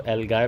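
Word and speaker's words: algae: अब कुछ लोग जो है इसको एल्गाय पढ़ते हैं, कुछ LG पढ़ते हैं। जो भी आपको पढ़ना है आप पढ़ें। मैं वैसे इसको LG पढ़ता हूँ, तो मैं इसी प्रोनाउंसिएशन के साथ चलूँगा।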